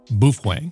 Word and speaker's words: Baofeng: America and sold by baofeng Tech which is not the same as baofeng commonly pronounced buff Wang and baofeng Tech is